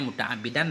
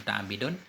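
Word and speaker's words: مُتَعَمِّدًا: h abdullah imut akbidan ini bacanya muta'ammidan bukan muta'abbidin mabar ya abdullahi mutakabbir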